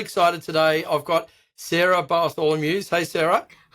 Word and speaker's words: Bartholomeusz: I've got Sarah Bartholomew. Hey Sarah. Hi. Great pronunciation of my name.